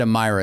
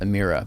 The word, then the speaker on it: Emira: for lotus and yeah the lotus i said amyra in the video and it's pronounced amira but the avaya is of avaya so it's